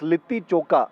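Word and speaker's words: litti chokha: Uh I'm sorry I mispronounced it. It's it's lit choka as according to Viraam and he's going to be making one.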